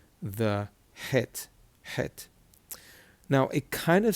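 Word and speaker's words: חית: But the unfortunate thing is people mispronounce it and they end up saying chet, and it's not chet, it's het.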